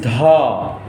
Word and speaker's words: ध: 1, 2, 3, 4, and this is dha, aspirated, which take a long breath to pronounce.